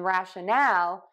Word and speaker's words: rationale: to stress that and then in rationale we're going to stress syllable three a little bit more so we do have